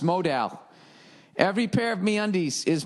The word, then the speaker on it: modal: No, modal is pronounced modal.